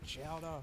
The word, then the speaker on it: Chowdhury: Please welcome my friend, Kareem Chowdhury, to tell you more. It's pronounced chowder.